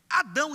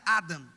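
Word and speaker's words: אדם: é bom significa vermelho Adão hebraico não se pronuncia Adão se pronuncia Adam Adam Adam em hebraico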